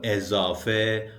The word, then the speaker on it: ezafe: It is pronounced like e or ye after vowels. It's not written in normal Persian script, just spoken. And take a look at this table with examples of ezafe or e sound.